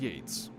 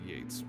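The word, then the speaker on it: Yeats: Oh, is it pronounced yeets? Did I was I saying yeets? Was I misreading it? Spelled yeets, but uh pronounced Yates.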